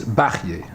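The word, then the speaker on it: Bachya: Yeah, I think the proper pronunciation is Bachye, Rabbeinu Bachye.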